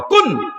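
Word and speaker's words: كن: কাফের উপরে পেশ দাও, নুনের উপরে চাকিন দেও, দিয়ে উচ্চারণ করো, কাফ নুন পেশ, কাফ নুন পেশ। আল্লাহ বলেন, আমি যে আওয়াজ দিয়ে বানাইছি ওই আওয়াজটার নাম হলো কুন।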